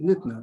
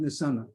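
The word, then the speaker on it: ניתנה: The Yud shows you to pronounce it nitna, not nisana.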